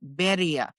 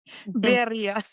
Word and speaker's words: birria: Birria. Birria.